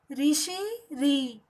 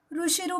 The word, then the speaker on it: ऋ: कुछ बच्चे इसे ऋषिरु कहते हैं, लेकिन यह उच्चारण गलत है। तो फिर इसका सही उच्चारण क्या है? ऋषि री।